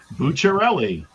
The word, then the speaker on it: Bucciarelli: So it's Bucciarelli. So we went from doodler to Bucciarelli. Yeah, it's an Italian last name.